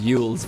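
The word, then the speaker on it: Eul's: You can't say eels without saying ew. That is true. Actually, you can. It's pronounced yules, but ew.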